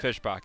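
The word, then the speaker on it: Fischbach: right fish by well fish for fish spa that's how you say it Fishbach yes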